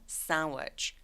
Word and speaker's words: sandwich: 그래서 샌드위치가 아니라 sandwich, sandwich. 그래서 sandwich라고 해도 되지만 sandwich라고 D소리 삭제.